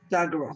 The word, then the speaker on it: Dagara: Dagara, Dagara, thank you.